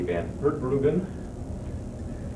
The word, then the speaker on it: Van Hertbruggen: And Maddie Van Hertbruggen, did I say that, pronounce that right? Yeah. The right spin on the R.